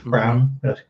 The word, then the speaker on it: Braun: That might be like a Christian Braun series. Brown. I read his name phonetically in my mind.